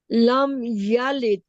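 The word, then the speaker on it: لم يلد: आप यलिद बोलती हैं, इसे लगता है जैसे आखिर में ता है, ता नहीं। इस दाल है दाल पर खत्म आखिर में करना है, दाल। जोर कर, लम जोर देकर। यलिद। यलिद। लम यलिद। यलिद। यलिद। लम यलिद। जी, इस दाल को जाहिर करना है।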